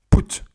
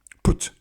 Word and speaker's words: put: On peut également le prononcer ou, comme dans sous. Exemple avec le verbe put. Voilà, comparez sous. Ouais, c'est une voyelle brève, mais en anglais c'est encore plus bref. Sous, put.